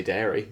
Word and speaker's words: Derry: I just I think people say dairy.